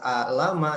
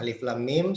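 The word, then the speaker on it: الم: Ya, cara bacanya bukan alama tapi alif lam mim.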